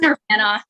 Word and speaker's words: Nirvana: I'm pronouncing it wrong, I think. Nirvana? Nirvana.